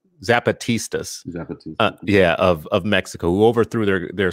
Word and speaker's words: Zapatistas: same thing with his a pistas of Mexico and I'm saying the name wrong zapatistas yeah of Mexico overthrew